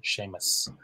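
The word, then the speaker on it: Séamus: But Seamus finishes with A-S. That's a broad S at the end, Seamus. And the name Saoirse starts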